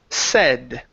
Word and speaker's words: said: is uh the word said now you had said it correctly at first and then you switched it to S okay it's not going to be a long a it's e said said good so Oscar saw